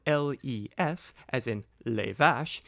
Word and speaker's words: les: The plural article les, spelled L-E-S, as in les vaches, is invariable, but do not pronounce the S.